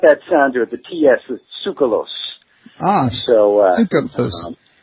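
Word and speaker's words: Tsoukalos: pronounce his last name sue cause I always pronounced it too close if I've been getting it wrong it's it's that T&S together thing like what's the Chinese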